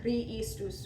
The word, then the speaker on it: Christus: It should be Kri for 3 beats, and then the S comes in. Christus sumitor.